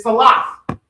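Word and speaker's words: סלת: Okay, so flour in Hebrew is salah. Everybody say salah. All right, salah. S-A-L-A. Okay, T-H. Salah. Slightly. So you said A-T-H. Yep, T-H. Yep, salah. Just the H in it.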